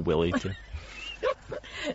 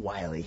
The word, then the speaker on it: Willey: Could you spell Willy? W-I-L-L-E-Y. Oh, that's why it's spelled Willy. Yeah. Not Wiley. Right. Or pronounced, I should say.